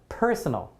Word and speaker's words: personal: my personal life right okay so definitely this one very easy bada bing bada boom first syllable right personal p p